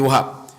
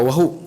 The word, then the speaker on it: Wahab: Aminah binti Wahab. Bukan Wahub. Wahub tu Piramli. Ini Wahab. Dan nanti kita akan tengok pula keturunan daripada Aminah sampai kepada sangkut dengan Abdullah.